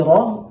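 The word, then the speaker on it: ر: জিহ্বার আগাটাকে দাল দাল র র এই র হরফটি উচ্চারণের সময় খেয়াল রাখতে হবে যেন অতিরিক্ত কম্পন তৈরি না হয়। র র এরকম যেন না হয়।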